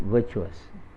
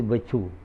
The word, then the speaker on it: virtuous: You have to sound it virtuous. But you say virtue, then it's not proper.